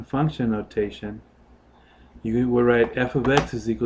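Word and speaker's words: f(x): the same time so function notation looks like this F ofx this is function notation and that's how you say it f ofx so right here that's your function notation you have it's not f * X it's F ofx okay so for example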